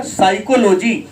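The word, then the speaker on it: psychology: साइकोलॉजी। क्या कहेगा? PSYCHOLO। यहाँ पर P साइलेंट है। बच्चा तो सीधे लिखता है CY।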